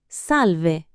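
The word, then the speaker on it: salve: First, salv, pronounced salv.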